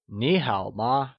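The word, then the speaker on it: 你好吗: choosing the right option how do we say how are you in Mandarin would we say Nihao ma or would it be Nihal ma or simply niihama the correct way of saying how are you is Neha ma good job now that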